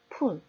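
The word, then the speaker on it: pool: 이번에는 pull, pull인데요. 이 스펠링 P는 두 입술을 붙이고 발음을 하면 되니 우리들에게 그렇게 어려운 발음은 아닙니다. 연습해 볼까요? pull, pull, pull, pull. 이렇게 장단을 구분하지 않고 pull, pull. 두 번 다 이렇게 발음을 한다면 pull, 당기라는 말인지 pull, 웅덩이를 말하는 건지 의사소통이 되지 않는다는 겁니다. 우리말이 없는 음소를 익히시고요. 그리고 스펠링에서 보여주듯이 모음이 2개 이상이면 길게 발음하는 연습을 하셔야 됩니다.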